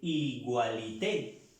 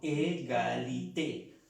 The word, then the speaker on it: égalité: Entonces, vemos que se termina, cumple con esta norma, pero esta es una pequeña excepción que no se dice igualité, sino égalité. La palabra igual se dice égal, égal, hasta aquí, égal, égal, igual.